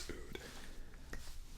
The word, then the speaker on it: oud: and spelled that way spell like out it's not it's oud there we have typical